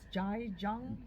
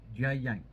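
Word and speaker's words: Jia Jiang: And then how do you pronounce the gentleman's name? As Jai Jung? Jai Yang.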